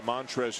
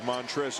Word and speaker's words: Montrezl: nobody inside didn't have the L at the end of montrezl is silent that's the only thing